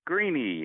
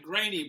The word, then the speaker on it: Graney: And I've got Greeny. Hello. Hi, Dave. It's Graney, by the way. Oh, I've been pronouncing it wrong for years.